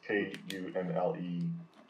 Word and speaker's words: Kunle: It's K-U-N-L-E, which is actually he goes by Kunle.